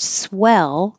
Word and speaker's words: swell: as in hit but the word swell which means good is very similar and the vowel is e as in head so swill is the